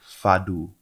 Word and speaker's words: fado: a portuguese person and they sent me right and said it's pronounced like fadou so i hope i'm saying